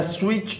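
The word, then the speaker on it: switch: Turn the स्विच ऑन, स्विच में T silent है।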